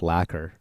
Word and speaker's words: liqueur: It's pronounced lacquer.